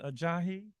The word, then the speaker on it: Ajahi: Tom Gonzalez, Deputy Center Director, Latanya Jackson, Director of Residential Living, Leah Ajahi. She said I said it right.